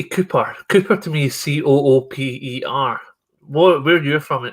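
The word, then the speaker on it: Cupar: cooper cooper to me c-o-o-p-e-r what where are you from is it not par or something when i say cooper is spelled c-u-p-a-r and that's not to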